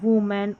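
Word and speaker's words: woman: यहां पर ओ है। यहां पर उ करके पढ़ा जा रहा है। वूमेन और यहां पर है वुल्फ।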